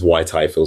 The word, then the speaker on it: Whyte-Ifill: Um, so it's and my surname is Y Tyfield. So it's spelled W H Y T E and little dash I F I L L.